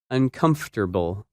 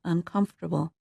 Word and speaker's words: uncomfortable: That word is uncomfortable, and its opposite, comfortable. When you say this word, you do not pronounce some of the letters that you see in the written word.